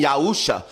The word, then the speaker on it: Yahusha: This is how you properly pronounce my name, Yahusha.